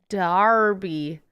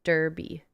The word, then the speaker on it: Derby: pounds says ask MVP how to say Derby it is wrong it is Darby was named after Lord Derby huh how do you